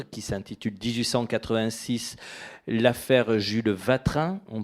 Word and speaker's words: Watrin: s'intitule 1886 l'affaire Jules vatrin on prononce aelleci ou ou c'est mieux oui voilà euh je me dis dans le Nord on dit watra mais bon je me